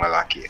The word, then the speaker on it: Malakiyah: I say Malakiah, but you pronounce it differently. Malaki.